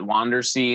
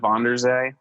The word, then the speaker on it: von der Zee: von der Zee yeah do you know why you pronounce that wander see instead of bonders a because we're in America great you should write